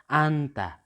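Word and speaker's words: 앉다: न र ज दिएको छ, यहाँनिर एउटालाई मात्र उच्चारण गर्दा आन्ता के भयो त? आन्ता भयो।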